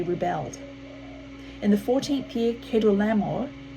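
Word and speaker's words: Kedorlaomer: had been subject to keto lamo but in the thirteenth year they rebelled in the fourteenth year kedu lamore i think that's it i think it's a better pronunciation and the kings allied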